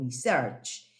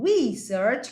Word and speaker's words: research: En inglés lo que cambia es la pronunciación. ¿Sí? Si yo hablo de research, estoy hablando de investigar, ese es el verbo research. Y si digo research, cambiándole la acentuación a la palabra, research, ese sería el sustantivo investigación.